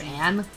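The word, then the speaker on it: Agne: My name is Angie, spelled A-G-N-E, but the G is silent. Wait, why? So you're Anne?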